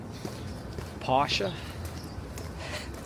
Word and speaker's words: Porsche: Porsche. It's a German name, and the E at the end is pronounced.